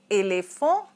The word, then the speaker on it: éléphant: Éléphant means elephant as in English. Okay, the ending consonant T is not pronounced, so it is éléphant.